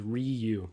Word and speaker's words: Ryu: Good for Ryu. So Quinn is saying the correct pronunciation is Ryu.